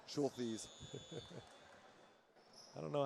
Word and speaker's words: Schulthes: I got to write that one phonetically. Schulthes. I don't know how you would write it phonetically. S-H-O-O-L. Schulthes.